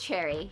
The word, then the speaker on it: Cherri: point than to get drunk yes it is pronounced cherry you are correct how do you pronounce the